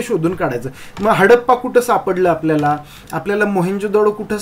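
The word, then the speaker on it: Harappa: मिळालं हडप्पन हडप्पन सिव्हिलायझेशन आता इथं जो स्पेलिंग आहे हडप्पा एच ए आर ए पी पी ए असं आपण म्हणतो हडप्पा स्पेलिंग जरी असलं तरी त्याचं प्रोनाऊन्सिएशन आपल्याला हडप्पा ड ड डमरूचा ड असं करायचं आहे हडप्पन सिव्हिलायझेशन वॉज डिस्कव्हर्ड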